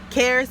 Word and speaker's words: Xares: It's spelled XARES. Cares, but with an X.